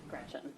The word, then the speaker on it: Gretch: named after my grandma Gretchen who I adore. It's funny though because she always said never let anyone shorten your name. Don't let people call you Gretch because it rhymes with wretch.